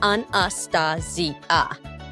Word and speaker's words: Anastasia: It's pronounced anastasia.